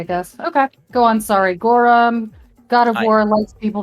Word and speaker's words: Gorum: Once we're done in there, I'd probably go over to the Gorm. Gora. Gorm? Gorum.